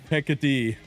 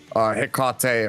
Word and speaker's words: Hecate: said, Look, if the Mexicans are gonna call the beer Tecate, I'm gonna call this Hecate, okay?